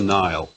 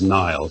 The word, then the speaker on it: Nihil: that's called this but pronounced the same as Nile like so what is